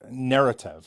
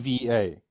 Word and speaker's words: Neretva: is in Dubrovnik Narrative or something, isn't it? No, Am I mispronouncing it? it's Narrative? Dubrovačka Republika. No, it's Neretva.